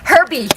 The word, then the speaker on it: herb: So this is how we say herb, it. Herbie. It's got an H in herbs. I know, but we don't do that. Americans say well, herb.